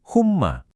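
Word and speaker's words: حمى: Ini cara bacanya gampang cuma humma. Humma itu artinya demam.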